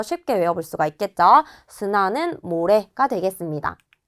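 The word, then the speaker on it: 砂: 섬을 시마라고 읽는구나 체크해 주시고요. 넘어가서 스나 보도록 할게요.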